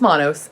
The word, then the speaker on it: Manos: Anyway, it's Manos.